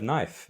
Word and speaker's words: knife: It's the same as the word knife. You spell it with a K in the beginning, but it's a silent K. Knife.